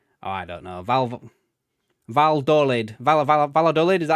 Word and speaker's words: Valladolid: Double L is a Y in Spanish. Oh, I don't know. Valladolid, is that how you pronounce it?